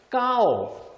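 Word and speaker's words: เก้า: 동그라미부터 해서 요렇게 되는게 숫자 8이고 숫자 9는 까오 요렇게 씁니다 그럼 역시 요것도 조심해야 됩니다 별표 하나 갈까요 만약에 성으로 발음하면 예 평상 되면 그냥 발음은 까오 이때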